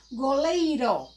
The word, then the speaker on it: goleiro: Ó, goleiro. Se tivesse 2 R's, é goleiro, goleiro, goleiro, goleiro, certo? Ora, se fosse 2 R, era orra.